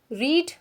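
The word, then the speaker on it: read: इसको आप तीनों फॉर्म में रीड नहीं पढ़ेंगे, सेकंड और थर्ड फॉर्म को रेड पढ़ते हैं, जो रेड कलर होता है।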